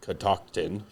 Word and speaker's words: Catoctin: and at Catoctin Creek the name Catoctin is a regional name pronounced Catoctin I was saying it right the name derives from